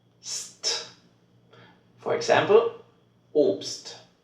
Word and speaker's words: Obst: Then you have to pronounce it like st. St. For example, Obst, Obst, oder fast, fast.